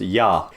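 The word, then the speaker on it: Я: This might seem like an reversed R, but in Russia, this is pronounced yah.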